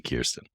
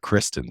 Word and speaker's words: Kirsten: How are you, Kirsten? I'm great. It's great to be here. And thank you for nailing the pronunciation of my name.